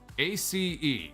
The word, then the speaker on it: Ace: i how do i how do i pronounce this a-c-e how about that we'll call him ace ace condeus there we go i was totally reading that the wrong way i was like a cine deuce ace kandi so what's going